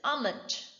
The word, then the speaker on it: almond: It is not almond, it is almond.